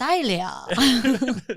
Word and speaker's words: Sileo: Silly with an O. That's me. Sileo.